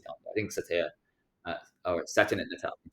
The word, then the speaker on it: Nadella: I think Satya, or Satya Nadella, I say his name. Yeah. I keep saying Nutella, but it's not that.